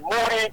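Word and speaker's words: Muri: Mori, M-U-R-I.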